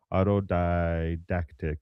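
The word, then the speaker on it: autodidactic: And by By the way, I did look it up and it's auto didactic. Auto auto didactic is the way you would pronounce that.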